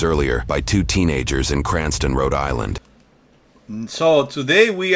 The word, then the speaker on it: Cranston: department in Rhode Island they meant to type Cranston but Florida officials may have misunderstood a road Islander pronouncing cranon Paulie's Department in their famed accent the report details that